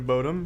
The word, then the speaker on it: Bodom: get merits from this is it not pronounced Bodom with the out that how do you pronounce it but Dom it's definitely botom Children of Bodom budem